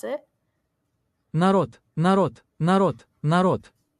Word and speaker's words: Народ: This is how you pronounce it. Народ, народ, народ, народ. Narod.